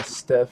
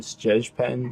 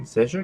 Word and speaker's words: Stjepan: Yeah, Steph. Oh wow, it's not even how you say it. It's Stjepan. Stjepan.